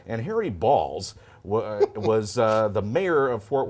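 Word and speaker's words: Baals: The old mayor there, Harry Balls. Harry Balls. Yeah. You can say it's spelled B-A-A-L-S, and they're looking to name a building or something after him.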